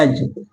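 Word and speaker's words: edge: तो वहां पर क्या होता है, डी का उच्चारण नहीं किया जाता है। देखिए जैसे क्या होता है, एज, ठीक हो गया, बजट हो गया।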